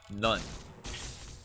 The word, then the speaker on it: knife: none you realize that it is none right it's not canon it's none this knife has a silent k which means it would just be none I am aware okay